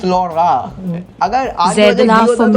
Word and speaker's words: लौड़ा: That is not Loda, that is Lora. अगर आज Zed बजे laugh होता for तो me, Lora good होता. boy. This is Skoda लौड़ा. Skoda Lora. Skoda Lora.